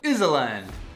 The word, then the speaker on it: island: Finally, there are the horrible silent letters, like Iserland and Knight.